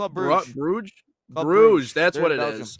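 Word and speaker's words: Bruges: you say bru gge oh club Bruge Bruge that's what it is okay all right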